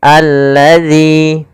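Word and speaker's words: الَّذِي: Maka teman-teman harus hati-hati dalam melafalkan dalal. Di sini hurufnya bukan huruf zai tapi dia huruf dal. Pada lafal dalal makhrajnya harus tepat yaitu ujung lidah kita. ujung lidah menempel dengan gigi seri atas agar sempurna banyak agar sempurna bunyi bacaannya sehingga kita baca dengan dzi alladzi kemudian khalaqo khist'la huruf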